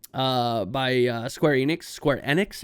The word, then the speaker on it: Square Enix: by uh square enix square enix apparently is actually what how you pronounce that i've always thought it was square enix sure uh yeah it